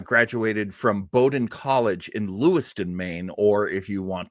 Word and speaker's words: Lewiston: there he uh graduated from Bowden College in Lewiston Maine or if you want to uh give it the proper pronunciation Lou Stone because a lot of French Canadian folks uh